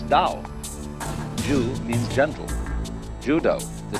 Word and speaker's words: Dao: Do is the way the Japanese pronounce Dao.